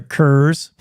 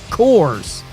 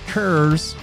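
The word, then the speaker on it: Coors: say, "I'll have a curse." Okay, he's all right. That's the cowboy cocktail right there. Get yourself a curse and say it like that. It's not course. It's curves.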